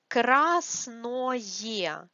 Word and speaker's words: красное: Красное, красное. Because this ое is not stressed, we have stress on а here. We pronounce it like ае.